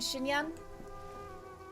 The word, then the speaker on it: Xinyan: I'm guessing it's just a localization thing, because we pronounce the X as a sh in people's names too, like Xiangling and Xinyan.